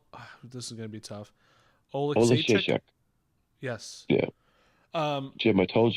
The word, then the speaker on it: Oleksiejczuk: Oleksiejczuk. Yes. Yeah. Jim, I told you, pretend in the middle and everything. You just got to end it. You got to end it strong, What? Oleksiejczuk.